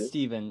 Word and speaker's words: Stephen: Is it Steven or It's Stefan? Steven, yeah. Steven. Mhm. Okay, yeah. Because I know when people spell it like that, they pronounce it Stefan.